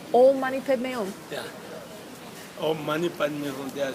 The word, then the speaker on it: Om Mani Padme Hum: And you said it was Om Mani Padme Om. yeah. Om Mani Padme Om. Yeah. Om Mani Padme Hum, there are 6 syllables.